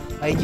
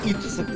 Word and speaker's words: id Software: ID Software уж уши режет, так как it не сокращение, а слово.